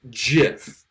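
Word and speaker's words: GIF: This is obviously really weak evidence because I haven't used any evidence that supports the idea that Jif, G-I-F, is pronounced with a J sound, J-I-F-F, right?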